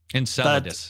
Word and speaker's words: Enceladus: So, this moon called Enceladus, I don't know how to pronounce it. Enceladus is what it's ahead.